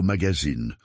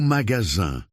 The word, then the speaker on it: magasin: Maman, on ne dit pas "Je suis allée au magazine", on dit au magasin. Le E ne se prononce pas.